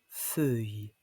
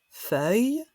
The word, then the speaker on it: feuille: Une feuille, dans certaines régions de France, on prononce feuille. E-E. Feuille, feuille.